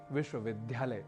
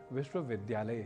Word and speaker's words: विश्वविद्यालय: ही बोल रहे होंगे जैसे एक प्रसिद्ध उदाहरण है विश्वविद्यालय जिसे आप अक्सर सुनते होंगे विश्वविद्यालय के रूप में जो कि गलत है इसका शुद्ध उच्चारण विश्वविद्यालय ही है तो बात